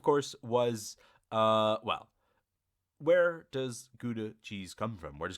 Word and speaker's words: Gouda: Now, you may, of course, as I mentioned earlier, Gouda is the American pronunciation of this. The region or the place in the Netherlands is actually pronounced Gouda.